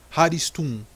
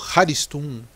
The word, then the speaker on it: Haristum: por poucos na magia chamado Haristun, ou Haristun, que o H é pronunciado como R, mas tudo bem.